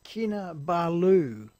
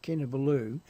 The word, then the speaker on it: Kinabalu: to the same altitude as, how do you pronounce that again? Kinabalu, the Kinabalu enensis.